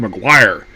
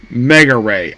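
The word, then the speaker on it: Megure: I see the name translated, it looks like a Maguire. But apparently it's pronounced Mega Ray.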